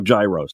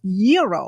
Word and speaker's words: gyro: in line at Papa Gyros I order the gyro Supreme suddenly the lady behind me chimes in it's pronounced yo then the fellow behind her says it's a gyro I turn my back